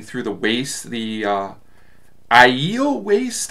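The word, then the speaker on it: Aiel: the waist the uh ielts waist i thought it was ale but i think it's pronounced iel and i'll give more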